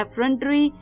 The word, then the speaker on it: effrontery: तो चलिए इसी के बाद जो तीसरा वर्ड था शाम का वो था एफ्रंटरी। EFFRONTERY, एफ्रंटरी।